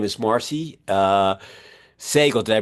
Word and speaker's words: Sagel: in Baltimore, uh her name is Marcy uh Seagel. Did I pronounce that right?